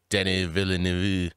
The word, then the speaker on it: Denis Villeneuve: Director, I don't even know how to say it, it's Denis Villeneuve.